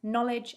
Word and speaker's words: knowledge: of a word so a k becomes a silent letter if it comes before the n in the start of the word for example knight knuckle knowledge and knife this means when we say the word we can't hear the letter k it sounds like it